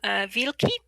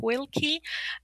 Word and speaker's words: Wilki: Oh, I'm not2night on very many discards, and Okay, um, on the Crucible I'm Wilki, which many English speakers pronounce as Wilki, and I wrote the